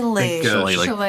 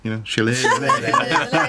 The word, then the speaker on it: Shillelagh: and imbue it with Shillelagh. Okay. Did I say it right? Almost. Nobody says it right. Shillelagh. Think Shakira, Shillelagh.